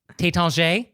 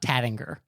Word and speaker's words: Taittinger: But then as long as we're talking about champagne names, Taittinger, it's not Tattinger.